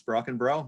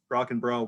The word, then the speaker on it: Brockenbrough: And I am basing that off the pronunciation of the smartest man I know, Mr. Tim Branscombe. He says it's Brockenbrough. That's good enough for me. So I've heard it several ways. Brockenbrough worked for me.